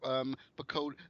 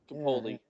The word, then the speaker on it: Capaldi: Yeah, and I'm quite happy to see that Piccoli, I can't say his name. What's his name? Piccoli. I can't say his name. Capaldi.